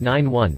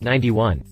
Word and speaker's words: 91: first production model the ff-91 pronounced 9 1 not 91.